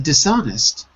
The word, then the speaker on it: dishonest: Dot is the stress in dishonest the stress is on the second syllable dishonest second syllable Raphael take a look